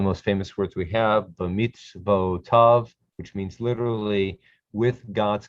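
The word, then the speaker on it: בְּמִצְוֹתָיו: B'mitzvotav, b'mitzvotav. The yud is silent in these forms right here.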